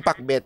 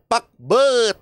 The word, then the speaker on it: Pakbet: Kabet yan na nagpa-pack Hwag diyan pakbit Dapat PB ganon ang pagpronounce niyan ha Ilocano yan eh PB sabay-sabay